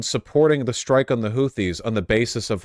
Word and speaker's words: Houthis: this is their opinion they're supportive of the hoodies damn it I there we go hoodie and the Blowfish no I know it's houthis is the way it's pronounced I don't know